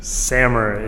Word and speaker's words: Samer: So Samir is a different name. Samer is my actual name. Right. Yeah. Okay, but it's the same name, just pronounced differently? No, it's a different name. It's spelled differently in Arabic. Oh, okay. So it's a different name. But so Samer is the American version, I suppose. No, Samer is it's the Lebanese, the American version. Yeah. Okay. It's the actual pronunciation.